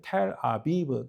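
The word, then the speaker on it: תל אביב: 그 텔 아비브 그 텔라비브가 아니고 사실은 발음이 텔 아비브라는 거예요.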